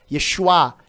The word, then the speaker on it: Yeshua: o nome Jesus né Jesus Cristo em hebraico você vai pronunciar seria chuá Hamashia Yeshua Yeshua Hamashia é Yeshua